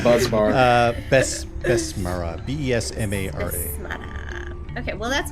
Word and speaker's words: Besmara: Besmara.